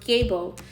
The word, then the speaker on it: gebo: But the word gay itself, I can attest, comes from the runic word known as, pronounced gebo, which means balanced, divine, feminine energy, balanced relationships.